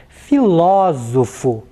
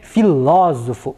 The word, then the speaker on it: filósofo: pronúncia então correto acento circunflexo na próxima palavra filósofo neste caso nós temos a sílaba logo uma mais forte né filósofo vejam só a sílaba ou a vogal é